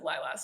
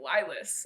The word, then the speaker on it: LYLAS: was like well i i said lylas a lot and then people were like what the is that and they kept saying it wrong they were like lie less i was like is that what i said no no that's not